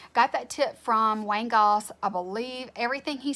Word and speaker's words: Goss: not familiar with Wayne Goss you need to go watch him because he's great it's Wayne gos the way his name is spelled if you're not familiar